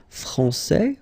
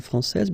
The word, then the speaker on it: français: Okay, so we've got a little bit the same situation here as we had previously with français and française, because we don't pronounce the final S in français, and it's exactly the same thing.